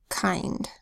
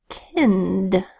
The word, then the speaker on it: kind: not always, just sometimes, when an I is followed by two consonant letters, it can make a long I sound.